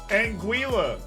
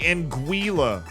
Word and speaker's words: Anguilla: do that to me U.S pronunciation is different that is the American pronunciation Anguilla that why oh that's so painful it's apparently in guila gwi is how they do the middle of it inguila all that is oh